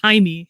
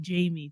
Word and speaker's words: Jaime: have like Jaime, his name is Jaime, but it's spelled, it looks like Jamie to people.